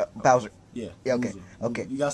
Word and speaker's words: Bowser: some Boozer okay we're going to find some Boozer Bowser yeah you got say boo you say it